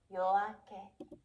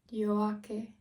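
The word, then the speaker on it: 夜明け: Studio Yoake pronunciation. Okay, now wait. Japanese Yoake. Let's hear it together. The word for dawn is Yoake. Yoake.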